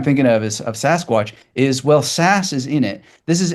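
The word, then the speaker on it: SaaS: Not that you're directly involved in software as a service, but that's SAS as it's normally sort of pronounced.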